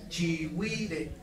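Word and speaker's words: chigüire: Fíjense, aquí tenemos que explicar cómo funcionan las diéresis. No, se escribe chi, G, U, diéresis, E, R, E, chihuire.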